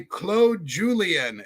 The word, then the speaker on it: Claude Julien: And the Bruins were coached by Claude Julien and it's spelled Claude but he's a Frenchman so we call him Claude.